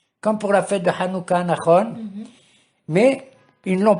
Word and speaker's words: Hanouka: savoir la fête de Hanouka. Il faut prononcer le het comme il convient. Hanouka, qu'est-ce que ça veut dire Hanouka?